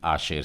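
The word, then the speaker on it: אשר: और इसे इब्री उच्चारण भी आशेर से ही बोला जाता है।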